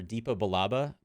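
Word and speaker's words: Depa Billaba: Rebels and we see how uh his master Dipa balaba pronunciation check is that yes correct cool uh uh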